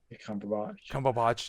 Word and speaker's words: Cumberbatch: Benedict Cumberbatch. Did I say it right? Cumberbatch, yeah.